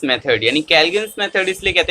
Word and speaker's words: Calgon: तो हमारे पास सबसे पहला मेथड आता है दैट इज काल्गन्स मेथड, यानी कैल्गन्स मेथड इसलिए कहते हैं कैलगॉन। इसका एक्चुअली जो प्रोनाउंसिएशन है वो होना चाहिए कैलगॉन।